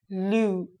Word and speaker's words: Luke: And the last one is a male name, Luke. Luke. So we are going to now practice the oo sound.